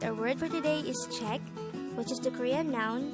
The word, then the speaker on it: 책: Korean noun for book the word check is composed of just one syllable which is formed from the combination of the sounds of chia a and Kyoko and is that